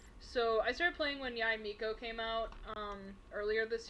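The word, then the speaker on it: Yae Miko: whenever uh whenever yai miko or mikko yeah that's how you say her name because it's it's the title first and then the name in japanese uh so yeah whenever yai miko came out was when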